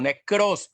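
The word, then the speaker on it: νεκρός: En nuestros delitos y pecados, o necros, pues, porque también la pronunciación en el griego sería necros, pero nosotros en español pues no lo pronunciamos así, decimos necrología.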